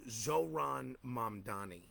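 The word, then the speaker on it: Zohran Mamdani: this uh Queen's assemblyman I always mispronounce his name but uh zoron momani I believe is the proper pronunciation of your his name and I think that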